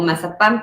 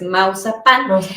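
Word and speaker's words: Maupassant: Guy de Mausapán, que se escucha como mazapán, pero es Mausapán.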